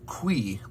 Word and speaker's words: qui: it in this text the q u um as you might be hoping expecting does make a quoi sound um not the k that you might be expecting if you know some